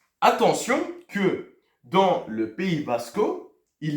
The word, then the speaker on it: Vasco: Donc, ce sont les Basco ou Basca. C'est tout simple. Mais ça s'écrit Vasco ou Vasca.